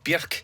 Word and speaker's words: Björk: I do prefer to say Björk instead of Björk. I love the way that name sounds when it's actually said with the accent, you know, Björk, it rhymes with jerk.